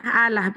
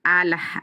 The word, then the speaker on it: Allah: plesetkan kau sebut Allah allahah padahal double l kan bacanya kan Allah kalau double l tapi kau enggak enggak mau ketahuan kau nyolong kau bilang alah alah Heh gitu ya